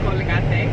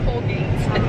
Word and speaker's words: Colgate: Yes, because it's not Colgate, it's Colgate. Mexican, it's Colgate.